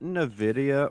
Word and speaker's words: Nvidia: bottom of the range so is it Nidia or Nvidia uh what it's so it's technically Nidia but it's it's spelled Nvidia I've always wondered that is